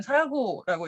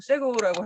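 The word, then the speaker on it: sago: 그리고 주 음식은 세고라고 하고 인도네시아어로는 사고라고 읽고 영어로는 세고라고 하는데요.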